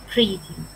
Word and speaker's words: pretty: Pretty. Chúng ta sẽ lại cùng là phát âm có hai chữ T này thì mình phát âm thành chữ d d d.